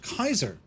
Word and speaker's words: Caesar: yeah yeah yeah incidentally Caesar would have been pronounced Kaiser so the word Caesar